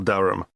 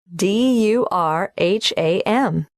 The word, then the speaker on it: Durham: How do you spell Durham? Durham. Of course, I should know that. But it's just one of those names that sounds quite different from the way you spell it.